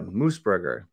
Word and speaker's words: Moosbrugger: Today we have with us Moosebrugger.